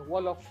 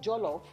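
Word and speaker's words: Wolof: still part of seron still called the wallof tribe not jolof because we are English We Now pronounce the J the proper way give it the proper pronunciation of Jolo so now without even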